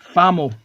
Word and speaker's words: Famo: What's the proper name for the FOMO panser? FAMO. That's how you pronounce it.